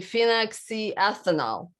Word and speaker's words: phenoxyethanol: They have right here, there's a ton of really bad ingredients, but one of them is phenoxyethanol, right? I can't even pronounce it. It's actually phenoxyethanol.